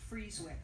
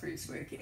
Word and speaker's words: Frieswick: We pronounce it Frieswick. Like it is Fries, which is something you guys don't do a lot of out here.